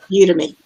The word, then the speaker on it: Udemy: Udemy. Yeah, it's like the world's largest platform for online courses, and I've been teaching courses since 2014. I have 11 courses on there. I have a group of Udemy instructors that follow me, and I just shared